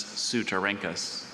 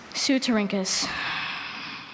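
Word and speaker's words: Ceutorhynchus: Sylvia examined the beautifully translucent amber carropuses of several weevils of the genus Sutarinkus.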